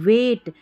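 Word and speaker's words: weight: Astronauts astronauts experienced experienced experienced experienced यह देखिए वेट डब्ल्यू ई आई जी एच टी को वेट पढ़ते हैं। डब्ल्यू ई आई जी एस टी को वेट क्यों पढ़ते हैं? जी H silent वेट एल E double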